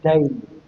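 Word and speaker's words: دَيْن: mustahabban tarka wajibin kadainin, ini bacanya dain, bukan din tapi dain, artinya hutang, wa nafaqatin wa nahwihima fa innahu ghairu masyru'in.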